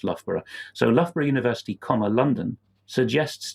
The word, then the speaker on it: Loughborough: Pseudonym's description of himself in his blurb as doing security studies at Loughborough University.